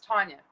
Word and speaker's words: Tanja: So, I'm pronouncing your name right, Tanya. No, it's Tanya.